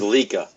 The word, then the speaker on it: Leica: I still have and was Leica no Leica trust me no le absolutely trust you ever buy one you'll never forget how to pronounce okay and the guy at the camera store is going to laugh at you if you say it that way if you say yeah